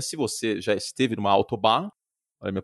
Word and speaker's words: Autobahn: Se você já esteve numa autobahn, olha a minha pronúncia aqui maravilhosa.